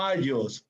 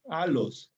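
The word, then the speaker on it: ἄλλος: segunda de paso esto se pronuncia aos no allos alos griego las dos l suenan como una alos y aquí se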